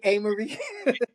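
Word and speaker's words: Amerie: So you worked with 50 Cent, Eminem, Crystal 5'9", Young Buck, Sheik Luch, Jada Kiss, Ghostface, Amory, or you pronounce it Amory. Yeah, Amory. Yeah, Amory.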